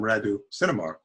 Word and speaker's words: Radu Cinamar: Radu Cinamar. Okay. That's how you might say it in Romanian, but we call him Radu Cinamar in English. because that's how people pronounce it.